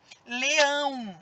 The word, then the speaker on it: leão: Leão, ó, leão. O ão sai mais forte.